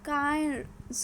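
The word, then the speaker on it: Cairns: Okay, सो यहाँ पे कौन सा है? टेल्स्ट्रा डोम। ओके, सो यहाँ पे बुंदाबर्ग रम स्टेडियम, कौन सा है? बुंदाबर्ग रम स्टेडियम इज़ इन कैन्स। कहाँ है? इसका प्रोनाउंसिएशन क्या है? कायर्स।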